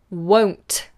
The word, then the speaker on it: won't: is the word won't won't I get asked regularly for the pronunciation of this so pay attention to this one whoa like wo w-whoa and then NT won't won't won't won't i will not